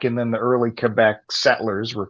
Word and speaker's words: Quebec: their nickname is because like montreal is in quebec and then the early quebec settlers were called habitants did you say seiko